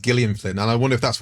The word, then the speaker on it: Gillian Flynn: fake murder mystery really fast and he's like jilli and Flynn wrote this she was expensive and that's I always think because it's she says it's pronounced Gillian Flynn and I wonder if that's one of his